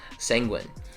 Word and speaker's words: sanguine: The next one is sanguine. The stress, you probably thought the stress was closer to the end of the word, but no, it's it's first syllable stress. Sanguine.